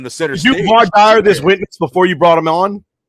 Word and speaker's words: voir dire: Vinny says voir dire. All right. It's pronounced voir dire.